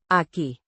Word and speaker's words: aquí: In this sentence aki, an adverb meaning here pronounced a with stress on the second syllable.